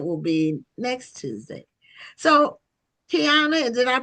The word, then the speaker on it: Kyina: So, Kiana, did I pronounce it correctly?